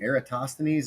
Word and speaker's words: Eratosthenes: I was interested, though, in the conversation about what is his name? Eratosthenes? Is that what you said? Is that how you say his fucking name? It is. You're right. That's how you say it almost.